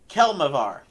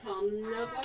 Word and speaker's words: Kelemvor: We are the followers of Kelmavar. Hey, I said it! Kelmavar! Hey, You just had to be in the moment to say it. pretty much. What's it called? Kalnava? Kelmavar. It's spelled Kelemvor.